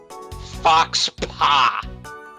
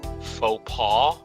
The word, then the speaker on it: faux pas: Fox Paw. How would you pronounce it? Faux Paw? What? That doesn't look anything like it. Yeah, that's French.